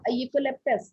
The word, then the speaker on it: eucalyptus: eucalyptus. Beta, it is U sound. Here E is silent.